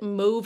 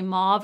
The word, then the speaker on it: mauve: both now i say mauve or move because i honestly like i can't take the comments anymore i feel like mauve is the way americans say it the rest of the world says mo so depending on where